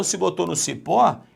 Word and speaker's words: cipó: Aí, Alexandre, de repente, quando eu estava olhando, eu botei a mão no cipo. Não, você botou a mão no cipó. Então, se botou no cipó, é uma oxítona, ok?